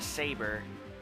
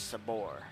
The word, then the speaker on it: Sabor: It's not Saber, but it's Sabor.